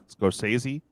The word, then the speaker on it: Scorsese: Scorsese.